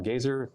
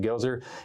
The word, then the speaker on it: Goeser: You can find me at my full name, JohnGoeser, John Gazer, or spelled like Gozer, at John Gazer on Twitter.